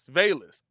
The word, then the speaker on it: Velus: Is it Velius? Okay, so you say it. Velus. Velus. What? I feel like I'm saying it the way you're saying. No, say it like Vaylus. Velus. Yeah, there you go.